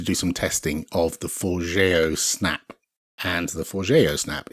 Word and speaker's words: Forgejo: I think it's Forgejo. I think. It's not Forgejo, which I think is how it looks on page to us silly Brits. So I wanted to do some testing of the Forgejo snap.